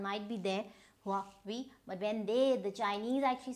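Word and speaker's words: Huawei: this was Hao, and now this is H-U-A. So this is, again, go by the letters Hua and Vi. So because they pronounce it like a whiff of wind, so they're very abrupt with their talk. So this is Hua Vi.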